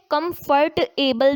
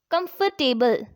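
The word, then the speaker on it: comfortable: आर टी ए बी एल ई हम इसे कंफर्ट एबल नहीं पढ़ेंगे बल्कि the correct pronunciation of सी ओ एम एफ ओ आर टी ए बी एल ई इज़ कंफर्टेबल next है एफ एल ओ डब्ल्यू ई आर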